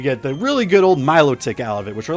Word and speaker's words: Milotic: Pokemon, because you get the really good old Milotic out of it, which for the longest time I always thought it was pronounced melodic. Or not, yeah, no, I always thought it was pronounced melodic, but it's actually Milotic, so that is one